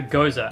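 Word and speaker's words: Gose: the Gosa okay and moving on to the Gosa and yes that is how you pronounce it find me in the comments below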